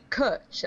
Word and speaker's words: cwtch: a special hug, but it's spelled CWTCH because the Welsh language doesn't have vowels. It's got like two extra vowels. It's got W and Y as vowels.